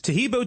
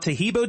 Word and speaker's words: Taheebo: Taheebo tea is great for healthy people because it helps regenerate cells.